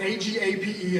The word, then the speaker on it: agape: It's spelled A-G-A-P-E. It's pronounced agape.